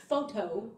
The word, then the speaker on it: FOTO: wrong i did not it is spelled f-o-t-o photo trying to be cool